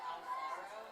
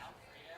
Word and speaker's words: Alfaro: It's like we had a girl, her last name was Alfaro, and I like announced it as Alfredo, and we laughed so fucking 2-2 incoming pitch from Betcher to Harnick.